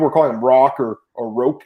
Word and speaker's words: Roque: It's Roque, if I'm not mistaken. I'm pretty sure it is, because John interviewed him and he called him Roque, and commentators called him that.